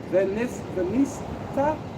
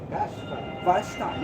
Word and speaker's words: Vashti: no, it's a, Vashti, yeah, Vashti. How you it's Vashti, the queen, had not done due warn. Oh, being Queen Vashti had not done wrong